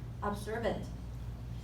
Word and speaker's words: observant: But the stress is in the back, observant.